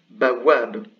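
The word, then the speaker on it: بوّاب: Et donc là, ça se prononce bawab. Bawab, donc c'est le waou redoublé.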